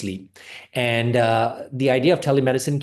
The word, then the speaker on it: Sliiip: So the practice name is Sliiip, spelled Sliip, but it's pronounced Sliiip.